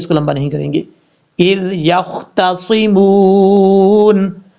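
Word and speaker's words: إذ يختصمون: کریں گے۔ اذ یختصمون، حمزہ کے بعد جو ذال ہے اس ذال میں قلقلہ نہیں ہوگا، بعض اوقات لوگ پڑھتے ہیں اذ یخ، ایسا نہیں کرنا، یہ سمجھانے کے لیے بات بتا رہا ہوں، کسی کو ہیٹ نہیں کر رہا میں۔ اچھا، اذ، اذ، اس کا مخرج آپ کو پہلے بتا چکا ہوں، ذال کو بغیر سیٹی کے ساتھ پڑھنا ہے اور قلقلے سے بچنا ہے، اذ، یختصمون، یہاں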